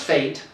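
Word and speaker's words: Faeit: It's pronounced Fate. Fate? It's F-A-I-E-T. Because it's the spelling always throws me off.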